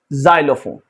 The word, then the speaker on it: xylophone: Rule number 10 हमसे कहता है कि कोई भी लफ्ज है अगर एक्स से शुरू हुआ है तो आपने एक्स को प्रोनाउंस करना है जी के साथ। Example xylem, xenophobia, xylophone.